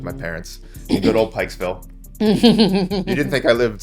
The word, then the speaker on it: Pikesville: in a place called Pikesville when the first part of that word rhymes with the word you're not supposed to call us.